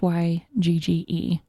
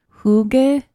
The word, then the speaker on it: hygge: meant so it's a Danish word and it's hy g GE yes but it's pronounced who gave and but that good sound is kind of